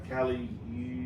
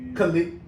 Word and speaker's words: Khalid: Yeah, the Get You by Cali. Khalid. Oh. Her last name is spelled silly.